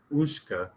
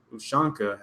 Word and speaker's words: ushanka: president being mounted by a bear wearing a Russian ushka hat emblazoned with a red star. Is that how you say it? Ushka? Ushanka hat emblazoned with a red star.